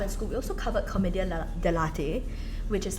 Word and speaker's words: commedia dell'arte: We also covered commedia dell'arte, which is like Again? Sorry? commedia dell'arte. Is it? Okay. It's like It's not coffee. No, I thought it was like comedian lelate.